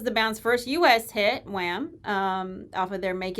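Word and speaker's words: Wham!: we're talking about is wham yeah and you have to say it like that because they have an exclamation point at the end of the name is that when it's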